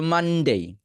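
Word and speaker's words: Monday: কারণ ঠান্ডা লাগলে নাকের মধ্যে সব এমনি চলে যায়, ঠিক আছে, সাউন্ডগুলো। সো মানডে, ঠিক আছে। সো মানডে উচ্চারণটার ক্ষেত্রে আপনার নাকের সাহায্য লাগবে, ঠিক আছে।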